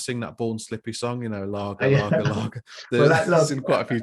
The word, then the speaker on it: Lage: Former Benfica boss Bruno Lage. We had this before. Oh, Lage. I'd say Lage or Lage. But for the fans, it'll be Lager, because they want to sing that Born Slippy song, Lager.